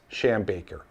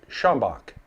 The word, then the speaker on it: Schombach: don't address them immediately the word of mouth Legend speaks of a man named matius sham Baker and the shambaker tavern please know that the tavern's actual name was shambach and named after Matthias